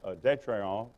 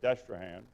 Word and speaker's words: Détrehan: Edmond McCarty had married a daughter of Jean-Noël Détrehan, which we mispronounce today as Destrehan, and he had built